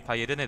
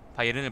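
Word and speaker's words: Bayern: 그것도 그 그냥 바이에른으로 읽으면 되는 게 아니라 화난 듯이 읽어야 돼요. 독일이니까 독일어니까 바이에른 바이에든 이렇게 읽는다고. 저번에 바이에른 사람들이 바이에른에 대해서 바이에른을 발음하는 걸 들어봤는데 진짜 바이에른 바이에른 이렇게 읽더라니까.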